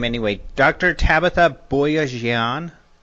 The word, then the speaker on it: Boyajian: Tabitha Boyajian? Boyajian. Well done. I mean, I'm an astronomer. I'm not a pronunciation specialist, so I'll go with you on that one.